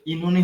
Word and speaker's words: Oenone: করছেন বলতে পারার কথা ইননি ইননি এখন আমি ধরবো কোনটা একেকজন এ একটা বলতেছেন আমি বলবো কোনটা ইননি ধরবেন প্রবলেম হইতে পারে কিন্তু শুনে আমার কিন্তু হাসি পাইলোন এটার সঠিক উচ্চারণ হচ্ছে ইনুনি ইনুনি জি ভাইয়া সেটাই প্রোনাউন্সিয়েশনে